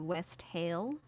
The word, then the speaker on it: wassail: It's an Old English word, and the pronunciation is most similar to West Hail. But I mean, nowadays we call it Wassail, Wassail, Wassail.